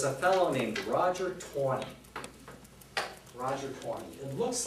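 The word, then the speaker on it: Taney: Supreme Court was a fellow named Roger Tor Roger 20y it looks like it's pronounced it's actually uh but it's actually pronounced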